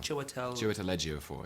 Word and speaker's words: Chiwetel Ejiofor: I'm going to try and pronounce it. Chiwetel Ejiofor, yeah.